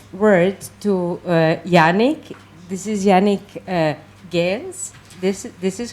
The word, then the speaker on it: Yannick Geens: This is Yannick Geens. This is how you pronounce it.